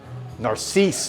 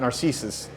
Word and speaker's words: Narcisse: Narcisse, not Narcissus.